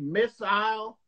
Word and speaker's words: missile: you pronounce is it do you pronounce missile like motorcycle is it is it yeah I know some of you will say missile and like I got my mobile phone so you know there's different pronunciations across the country but it's like motorcycle based on years we